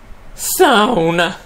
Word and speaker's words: sauna: Sauna，它有一点鼻音哦，